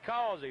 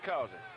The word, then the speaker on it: Causey: So, Greg, they got a misprint in there, and you read it the way it's spelled, but that's Nikki Causey. Richard Causey asked me to please get that straight.